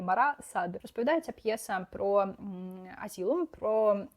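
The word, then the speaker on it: Marat/Sade: Я, коли знімала відео про вішліст, неправильно вимовляла ці імена, бо думала, що вони німецькі. Виявилося, що німець написав про французів. Я цього не знала, тепер знаю, правильно казати Мара Сад.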